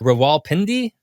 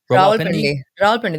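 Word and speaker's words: Rawalpindi: going to mispronounce these I'm here to fix that pronunciation it's a raal pendy ra pendy that makes sense yeah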